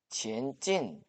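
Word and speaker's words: 前进: 중국어 발음은 이렇습니다. 지엔진 수원산 공원은 12개 구역과 풍부한 식생 및 야생동물을 갖춘 자무스의 대표생태어 문화 종합 공원입니다.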